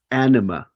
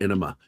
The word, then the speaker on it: Anima: Anima. Let me spell it for you. This is my fiance that was dropped in here a little bit ago. Mhm. There you go, Tim. Anima. And a few people call her Enema, and it annoys the shit out of her.